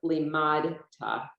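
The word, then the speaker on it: לימדת: Fourth line, first word is li, ma, ta. The shva should be under the dalet, but because they didn't introduce it yet, they didn't put it there. But it's limad ta.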